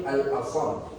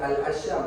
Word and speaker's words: Hatim al-Asam: Baik, kata Al-Imam Hatim Al-Asam. Okey, bukan Al-Asyam. Al-Asyam ni bunyi lain macam pula. Asyam macam asam lah pula.